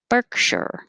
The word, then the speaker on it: Berkshire: vowel in each one berkshire two syllables stress on the first one picture avenue i should